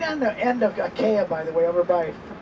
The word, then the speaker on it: Achaia: Did I say it right? Yeah. Achaia. Achaia. That's how you say it.